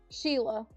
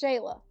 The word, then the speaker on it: Shayla: Yeah, it's not spelled Sheila. It's Shayla.